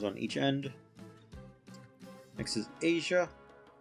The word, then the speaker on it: Aisha: Next is Asia. Or Aisha. I think is how you say it. I like saying Aisha better. That's what it looks like to me.